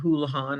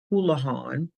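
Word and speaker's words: Holihan: Mr houlihad your present so I see Mr Houlihan I'm going to spell his name since I've mentioned it uh the name is Sean hulahan spelled s-e-a-n the last name is spelled h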